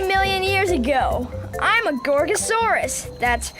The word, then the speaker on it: Gorgosaurus: I'm a Gorgosaurus. That's Gorgosaurus.